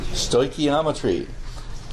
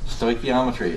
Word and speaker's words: stoichiometry: Who can pronounce this? Stoichiometry. And I like to say that I only say this word about 5 times during this course. Stoichiometry.